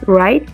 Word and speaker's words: ride: A este también le vamos a suprimir esta E porque esta E no suena, que es, ¿cómo lo pronunciamos? Ride. Entonces, por ende, esta última E de acá, o I en inglés, no suena, entonces la vamos a quitar de ahí completamente y vamos a agregar la